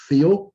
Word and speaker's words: Theal: It's actually pronounced Theal, Theao.